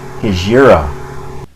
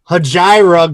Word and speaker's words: Hejira: how you pronounce it i called it hajira growing up then when i heard joni was hajira cause it's close to my name last i missed yours